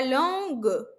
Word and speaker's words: langue: La langue. O E no final não é pronunciado.